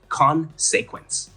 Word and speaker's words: consequence: Sure, in the word consequence, the emphasis is on the first syllable, so you would pronounce it like consequence.